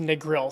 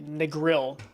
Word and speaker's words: Negril: It's pronounced negril. Thank you, Leslie. Negril.